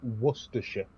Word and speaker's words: Worcestershire: the uk wash your sister sauce yeah it's pronounced worcestershire yeah i don't care i can't say it